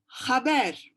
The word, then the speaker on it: haber: But in Ladino, you read the H's. So H is H, haber, which means news.